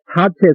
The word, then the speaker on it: 사제: 집과 열과 보를 말합니다 이것은 사체 사제 두 가지로 이것은 발음합니다 글자 본 것은 이것은 실할 택자 이것이 사체라 하지만은 보통 그냥 그 은편 위해서 사제라고 이제